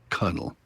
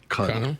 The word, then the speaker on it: colonel: And for some reason, the R stuck around in the pronunciation, even though there's no R in the spelling. And in early English, in fact, in some southern states, it's still pronounced Cunnel. Cunnel.